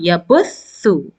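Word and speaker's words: يبثُّ: Yabuthu. Yabuthu. Remember, tha is pronounced from the tip of the tongue when it is little bit outside and in between the upper incisors and the lower incisors.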